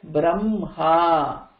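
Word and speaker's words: ब्रह्मा: So it is written like this, h and அதுக்குள்ள ம, but when pronouncing you pronounce it as Brahma.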